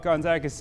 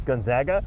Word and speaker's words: Gonzaga: somebody how to pronounce gonzaga we spoke with gonzaga's president yesterday and he said just think about it they zig we zag okay that's it it's easy but nobody zogs less than complete it